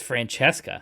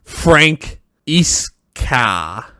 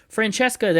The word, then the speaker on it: Francesca: Yeah, see, the Italian, those C's make ch sounds. Yeah. It's Francesca. Francesca. No, only the C's and the E's. Okay. Frank Iska.